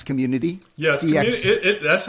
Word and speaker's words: CXMMUNITY: keyboard so community it sounds it says it's pronounced community and it's just to um to really highlight